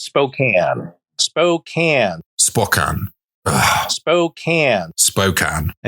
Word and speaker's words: Spokane: East Washington city of Spokane Spokane that's how it's pronounced oh it's not Spokane after all no the a is misleading so that's how the word is spoken oh that's a good